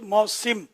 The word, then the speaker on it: موسم: اللہ اللہ, موسم لفظ ہے, سین کے نیچے زیر ہے جو آپ نے فرمایا. اور موسم ہم لوگ عوام موسم ہی بولتے ہیں, لیکن صحیح تلفظ موسم.